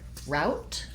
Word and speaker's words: route: our Friday classes, and there are two different pronunciations for route. I tend to say route with an ow diphthong. Both times we would use a stopped T, route, or a slight aspirated T, route. In some other places, route is pronounced the same as the word root, in which case you would, rather than having the ow, you would have tense oo vowel.